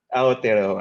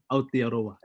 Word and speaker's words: Aotearoa: Did I pronounce that right? David is our resident. Mabilis. Aotearoa. All right, thank you. Parang Filipino lang. Aotearoa.